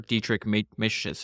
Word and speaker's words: Dietrich Mateschitz: Dietrich Mateschitz, I think is how you say his name.